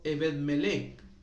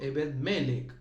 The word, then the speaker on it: Ebed Melec: Y después también tenemos a otro amigo llamado Ebet Meleek o mejor dicho Ebed Meleek con acento en esa ebed así es sin H y con b larga bed con d de dedo eed ebed melec con c al final él está en el